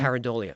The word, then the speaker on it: pareidolia: Pareidolia.